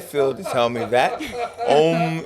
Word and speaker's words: Om: Om is two syllables, even though it sounds like one.